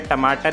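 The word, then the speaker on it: トマト: इसके बाद आता है टमाटर यानी कि टमाटो, और जापानीज़ में टोमाटो। लिखना स्पेलिंग सेम है, बस प्रोनाउंसिएशन डिफरेंस हो गई है, टमाटो टोमाटो।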